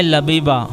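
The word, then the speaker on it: Labiba: लमात लमात की मानी है रोशनियां नाम है लबीबा लबीबा की मानी है अकलमंद और इसकी स्पेलिंग है एल ए बी आई बी ए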